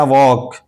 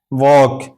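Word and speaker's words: walk: इसी तरह वॉक वॉक एल के बाद के आया तो यह एल साइलेंट है।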